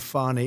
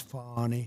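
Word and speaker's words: Fani: Tre you very unfairly she goes by the name of fonny even though it's F A ni I she wants to pronounce fny she's little little French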